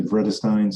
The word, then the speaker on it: Vredestein: you know in english i would say vredestine so it's it's the word red with the v in the front red stein like a